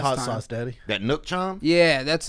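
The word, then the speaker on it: nước chấm: That one's gonna have lemongrass beef as the base, and gonna also have a nook chom. I said it wrong. Hand me that hot time. Sauce, Daddy. That nook chom?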